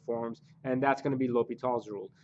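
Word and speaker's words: L'Hôpital: gonna be l'hopital's rule so please don't call this l'hospital because that's probably one of my biggest pet peeves it's it's a little bit also lets you know pronounce this mathematicians name correctly so let's start by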